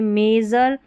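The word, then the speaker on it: measure: फिर यहाँ है SURE, इसको ज़र पढ़ेंगे, SURE है यहाँ पर आखिर में, इसको ज़र पढ़ेंगे। यहाँ देखिए, मेज़र, ये है प्लेजर और ट्रेजर। इन सभी स्पेलिंग में जो EA रहता है, इसको यहाँ पर हम A करके पढ़ते हैं, ठीक है। और EA का उच्चारण बड़ी की जैसे भी होता है, लेकिन मेज़र, प्लेजर और ट्रेजर में हम A करके पढ़ रहे हैं।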